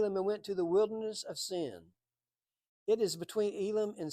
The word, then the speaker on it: Sin: And that's pronounced really Sin in the Hebrew.